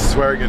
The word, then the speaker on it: Swearingen: It's Swearingen.